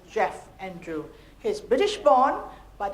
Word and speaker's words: Geoff: We have to tell them that it's Geoff Andrew.